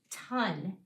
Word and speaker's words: ton: This word might have tricked you because it sounds like this O is making the short U sound. It actually is. Sometimes the O can make the short U sound when it's in front of certain consonants, like the consonant N, for example.